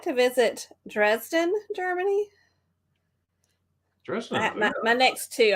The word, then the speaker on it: Dresden: Am I saying Dresden right? You are. You're exactly right.